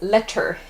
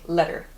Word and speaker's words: letter: However, we don't pronounce it as “letter” in actual speech, in rapid speech. We say, “letter,” it's a “D” sound.